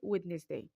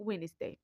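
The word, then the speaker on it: Wednesday: مع انه تما الاربعاء كنقولله وينشي ودنيس هذا غلط كيتكبوه بعض الناس ولكن في الحقيقه هذ الكلمه كتنطق وينز ويندا هو الاربعاء Way Way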